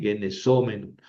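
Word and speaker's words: γενησόμενον: Ojo porque en el menos, mene, menon, en la terminación, el masculino y el neutro llevan el acento en la antepenúltima, genesómenos, genesómenon. En cambio, el femenino tiene el acento en la penúltima, es una paroxítona.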